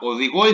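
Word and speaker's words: οδηγώ: Now, odigo is different. You can immediately see that odigo takes the stress on the last syllable, so on the first syllable, actually the way we count.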